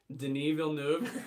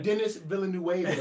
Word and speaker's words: Denis Villeneuve: Denis Villeneuve for Blade Runner 2049. Or Dennis Villeneuve. That's how I pronounced it the first time I ever did it.